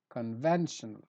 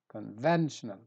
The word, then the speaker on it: conventional: Word number five, conventional, so I stress ven, conventional.